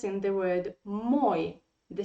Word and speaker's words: мой: look there is the stress in the word moy the stress is on o in the word